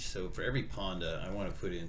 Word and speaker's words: Panda: Unlike Panda, which rhymes with Honda.